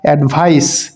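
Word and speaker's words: advice: এখানে প্রোনাউন্সিয়েশন বা উচ্চারণেরও একটু পার্থক্য আছে। যেটা নাউন হবে অর্থাৎ শেষে সিই থাকবে, সেটার উচ্চারণ হবে অ্যাডভাইস, এবং যেটা শেষে এসই থাকবে, অর্থাৎ ভার্বের শেষে যে এসই থাকবে এটার উচ্চারণ হবে অ্যাডভাইজ।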